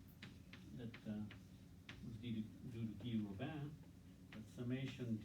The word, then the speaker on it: Robin: Not Robin, Guy Robin, okay? That's how you pronounce the French name, Robin.